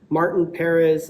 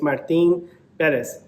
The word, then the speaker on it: Martín Pérez: that people hear the way you're supposed to pronounce his name correctly uh just gets kind of irritating hearing people Perez Martin Perez I'm like bro that's how you say his name it's Martin Bez he has been freaking amazing so far this